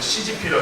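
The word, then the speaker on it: 习近平: 네, 한자로 우리 시는 석이고 중국 발음은 실 발음은 시진핑이라고 이렇게 합니다.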